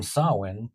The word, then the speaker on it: Samhain: The very name sawin provides the first clue to its significance.